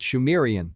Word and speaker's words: Sumerian: He writes, "It is also reckoned that the subsequent culture of the region, phonetically called Sumerian, pronounced Shamrian, was actually Sidmuran, Shi Murrian.